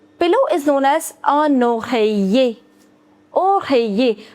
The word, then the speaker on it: oreiller: Pillow is known as un oreiller. Oreiller. Whenever you have I-double-L combination together, we don't pronounce double L. So it's oreiller.